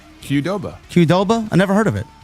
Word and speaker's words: Qdoba: How do you pronounce this? QDOBA. Qdoba. Qdoba.